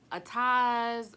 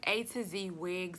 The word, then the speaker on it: ATOZ: 8 - z weeks I heard some other people pronouncing it like a ties or something but it's a - Z wigs I'm pretty sure but the